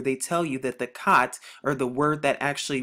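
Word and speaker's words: ח: symbolizes wall of separation, they pronounce it like chet. And the reason it's pronounced like chet for them is because it's a German and it's of Germanic deviation and Germanic origin.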